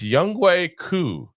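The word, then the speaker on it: Younghoe Koo: It's Young Coup.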